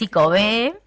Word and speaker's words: Ikove: la consulta también, bueno, y es con acento, es ICOBE, o no, porque no lleva tilde, desde personas que son docentes de guaraní, dijeron, no, aunque no lleve tilde, es ICOBE, significa sobrevivir en guaraní, y